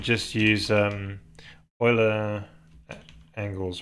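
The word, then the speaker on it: Euler: saying just use um Oiler angles right I'm not sure how you pronounce I've heard people say Oiler but yeah do you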